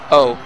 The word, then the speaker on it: Oh: O. Just O-H. His name is O. But it's spelled O-H. No, all lowercase.